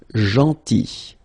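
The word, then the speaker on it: gentil: or tall theny so remember this final L is not pronounced JY and it's nice or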